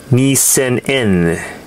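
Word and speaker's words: 二千円: This 2,000 yen note or bill is pronounced Nisen-en, Shihei, and the design is Shuremon.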